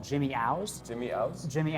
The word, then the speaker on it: Au's: If you live in LA, you can go to a place called Jimmy Au's. Jimmy Au's? Jimmy Au's, yep. How do you spell that?